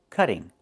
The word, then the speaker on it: cutting: We cannot pronounce the word this way. We cannot say I'm cutting the tree. It's pronounced cutting. Move the stress to the first syllable. Cut. Not cutting, but cutting. And in America, we change the t to a fast d when it's between vowels like this.